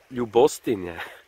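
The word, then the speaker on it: Ljubostinja: Ljubostinje is how you say it, but isn't that beautiful, man?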